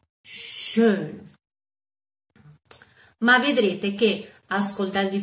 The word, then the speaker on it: schön: conoscete il colore rosso, e la O umlaut, come la O in francese che già abbiamo fatto, andatevi a riguardare i video, per esempio, quindi si legge schön, schön.